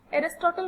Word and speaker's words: Aristotle: अरिस्टो को ही हम English में एरिस्टोटल प्रोनाउंस करते हैं.